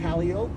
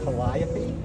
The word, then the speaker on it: Calliope: And if there's an accident on Calliope, they'll say Calliope on the news, but it's spelled Calliope, but we just call it Calliope.